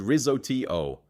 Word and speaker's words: risotto: Risotto is said ri-zo-tee-oh.